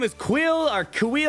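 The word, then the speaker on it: Kuiil: the I have spoken dude his name is quill Orca we like camera for the pronunciations k UI ll and he's obviously a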